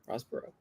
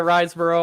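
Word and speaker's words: Riseborough: fries Barrow rasborough Andrea rossborough and that is correct that is correct three points like you Andrea risborough Andrea riesborough it depends where you live how you say it but that is correct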